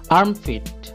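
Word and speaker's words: armpit: আই টি আর্ম পিট এখানে আর silent থাকবে অর্থাৎ উচ্চারিত হবে না আর্মফিট আর্মফিট অর্থ বগল বি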